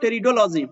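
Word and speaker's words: Pteridology: जहां पे basically P आपका साइलेंट होता है, तो आपको कंफ्यूज नहीं होना है। अगर टेरिडोफाइटा का स्पेलिंग अगर आपसे पूछ लिया जाए, तो आप पी को मत स्किप कीजिएगा, क्योंकि पी इसके साथ रहता है, क्लियर। लेकिन बोलने में ये पी आपका जो है वो साइलेंट रहता है।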